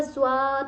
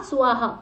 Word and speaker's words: स्वः: the real pronunciation is ओम भूर्भुवः स्वः, नॉट स्वाहा, स्व, तत्सवितुर्वरेण्यं भर्गो देवस्य धीमहि